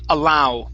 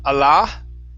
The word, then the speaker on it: allow: Next we have the word allow. Instead of Allah, okay, end off this one with an oo sound at the end.